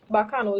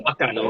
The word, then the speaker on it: Bacano: And it's spelled Bacano, Bacano. Not the regular way, Volcano, yeah. Mhm. We just wanted to stand out and make it easy and accessible for people to find the page like it's spelled the way it sounds.